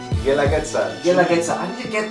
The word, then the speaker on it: Guelaguetza: Guelaguetza. Guelaguetza. I need to get that. I'm gonna get that. Guelaguetza. Guelaguetza. The U is silent.